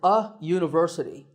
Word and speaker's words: university: is a university because even though university starts with the letter u the first sound of the word is not a vowel sound we don't say university we say university so that first sound is a ya sound which is a consonant sound so we say a university number eight is similar